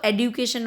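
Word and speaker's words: education: बच्चों जो एजुकेशन है ना, अब इसको एडुकेशन हो गया है इसका प्रोनाउंसिएशन।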